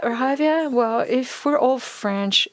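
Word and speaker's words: Hyvia: us more about the javier strategy is it evia or javier well if we're all french evia but internationally we pronounce it javier so javia brings together two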